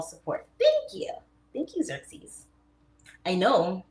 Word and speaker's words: Xerxes: It's pronounced Xerxes. Oh, Xerxes.